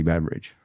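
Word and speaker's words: Beveridge: It's spelled IDGE at the end. Well, it's actually a Beverage. Scottish last name. It was my Pronounced the same way.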